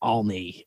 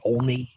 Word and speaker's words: Olney: settled on 20th and I'll pronounce it correctly for this. It's 20th and Olney. It's O-L-N-E-Y. I always, my natural pronunciation of it, whether it's my accent or whatever, I would pronounce it Olney, O-L-N-E-Y, but I will